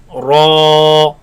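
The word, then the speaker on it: ر: Ra is sometimes heavy, sometimes light. But here we're going to pronounce it heavy. And with alif, ra, Ra, ra, Ra, ra.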